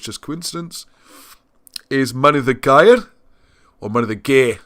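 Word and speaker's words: Mynydd y Gaer: it's just coincidence, is Money the Gair, or Money the Gair. Let's give it its proper South Wales pronunciation. Money the Gair.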